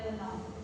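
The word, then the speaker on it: lenong: Contohnya kepak dan lenom. Lenom. Lenom. Lenom. Dibacanya lenom.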